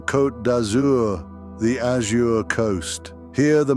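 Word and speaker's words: Côte d'Azur: Welcome to the French Riviera, or as the locals say with a twinkle in their eye, the coat dazour, the azure coast.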